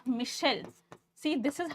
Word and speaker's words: Michel: spelling this as Michael this is not Michael Fuko no the correct name is Michelle see this is how